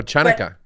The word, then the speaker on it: Hanukkah: it c-h-a-n-u-k-a-h monica or chanaka yeah exactly exactly people who don't know it's a ha pronounce it like chair which is you know totally wrong yeah i usually put